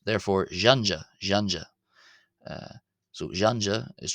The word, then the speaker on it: ϫⲁⲛϫⲁ: Uh and that's because it's not j as in our English word jam. It's as in the French word or the sound in the English word measure. J and it's therefore jeanja jeanja.